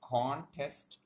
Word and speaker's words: contest: you then we will put emphasis or we can say stress on the first syllable for example the word contest and rainy contest is a noun so it will be pronounced as contest rainy is an adjective